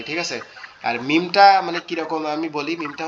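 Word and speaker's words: ميم: মিমটা কোথা থেকে উচ্চারণ হয়? মিমটা আমাদের দুই ঠোঁট, এই যে দুই ঠোঁটের যে এই যে মাঝের যে নরম অংশটা আছে এখান থেকে জি। মিম মিম মিম মিম। মিমটা এরকম মিম।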